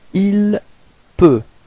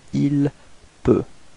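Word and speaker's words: il peut: Ilp. All right. So same way of pronunciation. You've got T at the end, but then you don't pronounce it. Ilp.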